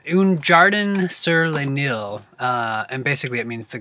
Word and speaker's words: Un Jardin sur le Nil: Series scents, and I think it's the it's the one that's based on the Nile, Sir Denial. I'm sorry that I'm pronouncing that so terribly. It's Un Jardin sur le Nil, and basically it means the Garden of the Nile.